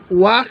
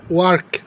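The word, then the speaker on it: work: কি ওয়ার্ক ওয়াক ওয়াক নয় ওয়ার্ক ওয়াক ভাই পড়বো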